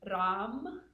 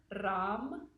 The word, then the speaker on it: Ram: The third one, the solar plexus syllable, is going to be Ram, with a rolled R, Ram.